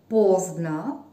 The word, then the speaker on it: поздно: So be careful, please, because there is written O at the end of this word. В конце этого слова O. No, stress at the beginning of this word. Ударение в начале.